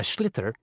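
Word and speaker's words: sliotar: you have to get this ball called a schlitter that's s-l-i-o-t-a-r so it's not spelled the way it's pronounced you hit it into the net for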